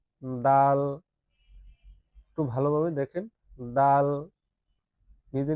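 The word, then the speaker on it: دال: খলকের শেষ ভাগ হইতে ভালোভাবে উচ্চারণ করে নিবেন। খ এরপরের হরফটা হচ্ছে দাল। দাল একটু ভালোভাবে দেখেন দাল নিজে নিজে উচ্চারণ করেন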